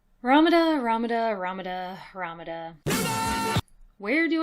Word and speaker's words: Ramuda: sum up everything about Ramada before King records has a chance to properly kill him off ramada's name is based on the Katakana pronunciation of the Greek letter Lambda which is used in